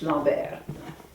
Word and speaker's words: Lambert: It's Lambert. In French, it's Lambert.